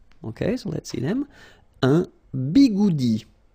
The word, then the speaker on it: bigoudi: Un bigoudi. It's quite funny to pronounce, isn't it?